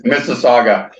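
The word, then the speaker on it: Mississauga: You said in your preliminary notes you couldn't pronunciate the name, but it's Missaga.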